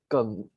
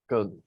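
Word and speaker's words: 庚: In Chinese, we pronounce as Geng. Geng.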